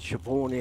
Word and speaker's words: Siobhan: you butchered the name, you have a look at a name like Shio. It's butchers. How do you spell it? Well, there's a few different options. Well, there all the ones I've seen are s i o b a n. Yep. How do you get shabborn out of that?